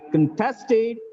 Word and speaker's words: contest: in a music contest look at here contested is the verb it gets the stress on the second syllable contest is a noun it guesses is on the first syllable the health department objected